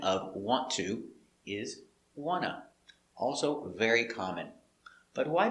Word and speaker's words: want to: do we say wanna because nt between two vowels the t is muted wanna i wanna go i wanna eat now this is pronunciation you don't write this you always write want to but you pronounce wanna i wanna go